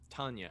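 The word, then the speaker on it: Tawna: It's Tanya, Tanya.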